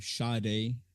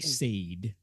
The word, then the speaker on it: Sade: you pronounce her name, Sade, Yes. Sade. It looks like Sade to me, Yeah. but it's Sade, Sade.